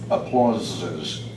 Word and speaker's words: applauses: Now that S in applause has a hard sound. It should sound more like a Z, applauses.